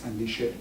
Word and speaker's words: andishe: And there's another part which is term which is andishe, with accent on the end of the game.